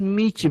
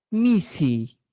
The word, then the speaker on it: misi: Ya, normalmente, por ejemplo, en Cusco se hablaba y se decía, pues, gato es Michi, profesor. Según la nueva norma de la gramática del ministerio, ahora se escribe, ¿cómo? Se escribe y se dice Misi, y misir gama, gato.